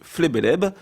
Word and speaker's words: FLBLB: aujourd'hui avec les éditeurs en l'occurrence le collectif flebeleb ça s'écrit FLB LB pour ceux qui seraient curieux